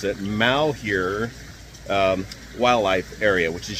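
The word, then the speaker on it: Malheur: do you pronounce it Mal here um wildlife area which is just to our South it comes from the French word mure or bad luck so here's some highlights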